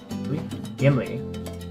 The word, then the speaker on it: Gimli: Using the H consonant, and remember the H in Spanish is silent. We have un, hacha, an axe. No, like Ghibli. Gimli. No, it's not Ghibli.